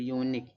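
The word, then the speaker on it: unique: जैसे यहां पर यूनिक कं यू का उच्चारण क्या निकले? क निकले। यूनिक।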